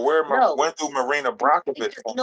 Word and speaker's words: Marina Abramović: It's Marina Abramović.